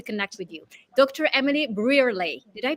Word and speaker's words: Brearly: Emily Brier. Did I pronounce it well?